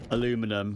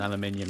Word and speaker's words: aluminium: So, I mean, there's many famous ones, right, between America and the UK, like aluminum and aluminium is probably the most spoken about one.